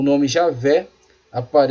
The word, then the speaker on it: Javé: esse nome vem sendo substituído pela forma e aveh ou Javé que é porque a pronúncia mais próxima do original tem programa vendo